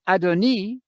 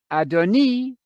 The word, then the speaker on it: adoni: that you understand that adoni that's the way you pronounce it in Hebrew it has a letter I at the end adoni which goes no less